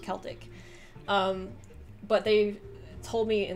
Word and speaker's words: Celtic: He or she says, Celtic is pronounced with a hard C, so Celtic with like a K, linguistic ethnic group, so not Celtic, that's the football team.